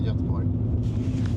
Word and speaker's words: Göteborg: So if you follow that road, you end up in Göteborg, Gothenburg. But, well, I'm saying it incorrect. Gothenburg in English. Yeah. But it's a name, so you can pronounce it in the language.